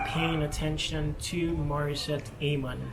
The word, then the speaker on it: Amon: attention to Maurice at a month someone told me it's a Mon you know but it's Eamon we there are different ways to pronounce I feel that the English pronunciation is Eamon so okay Martha I'm